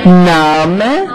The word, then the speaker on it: Name: Okay, so what you have here, this is, some people said my name, and that's really what it is, my name, in German, but we pronounce it mein Name.